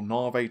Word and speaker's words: Navi: to show that yes, Navi 12, or Narve 12 as I prefer to pronounce it, is actually coming along